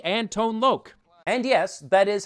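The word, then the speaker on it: Tone Lōc: Rain Plus special appearances by Sheila E and tone loke and yes that is how you pronounce his name I know this because I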